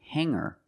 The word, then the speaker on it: hanger: When I change these words with eer, I don't pronounce the g sound. It's just the nasal m linked together with the together. Hang hanger. There's no g sound.